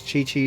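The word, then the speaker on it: Qiqi: But yeah, in the game they they pronounced her name as Chi-Chi.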